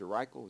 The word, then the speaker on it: Reichel: Reichel, is that correct, the pronunciation?